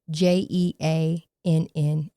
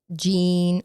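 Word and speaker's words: Jeane: Now, her name of the woman that she made a friend with, it's spelled J E A N E, right? So, you would think her name was Jean or Gianne, something like that, but it's actually pronounced Jean.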